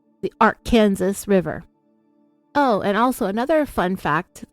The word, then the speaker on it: Arkansas: Title 1 chapter 4 section 104 of the Arkansas code it regulates how people pronounce Arkansas people must say the name of the state in a specific way it's not AR Kansas it's not Arkansas it must be pronounced Arkansas